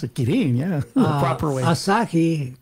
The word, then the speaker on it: Kirin: Yeah, Kirin. No, Kirin. They had Kirin, those two. Ah, so you pronounce it Kirin, yeah, the proper way.